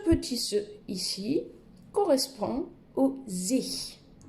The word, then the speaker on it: sich: Alors, en allemand, ce petit se ici correspond au sich. Essayez de retenir, pour faciliter la prononciation, le pronom ich avec un S devant, sich.